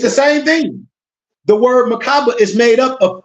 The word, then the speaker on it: Merkaba: And it seems other cultures of the Merkaba spelled different ways, M-E-R-K-A-B-A-H, M-E-R-K-A-B-A, M-E-R-K-A-B-A-H. And these are several pronunciations, but generally you pronounce it as if there were 3 syllables.